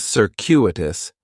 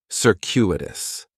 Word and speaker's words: circuitous: and circuitous has four syllables. And there's a few things going on with the pronunciation. In the first syllable, that c is going to have more of an s sound. Circuitous. The stress is going to be on that second syllable. And that cu is kind of like you're saying the letter q. Circuitous.